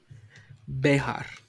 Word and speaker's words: Bexar: No, even when Keith said Bear County, that even was like, no, it's yeah. How's it with you? pronounced? Yeah. Behar. Behar. Yeah. But everybody says bear.